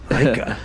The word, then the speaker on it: Laikaa: Is that how you pronounce it? Yes. Laikaa.